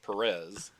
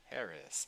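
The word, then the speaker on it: Pérez: Perez there you go the accent mark over the first e yes yes it's not George Perez it's George Perez yes because I always said it wrong yeah same all right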